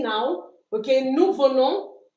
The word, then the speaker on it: venons: Nous venons. We don't pronounce the s.